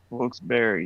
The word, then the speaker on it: Wilkes-Barre: Wilkes-Barre.